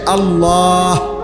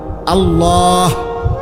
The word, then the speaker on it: আল্লাহ: উচ্চারণ হইতে হবে শেষে আল্লাহ শেষে একটা গোল হা আছে ছোট হা আল্লাহ মানে আল্লাহু তো হুটারে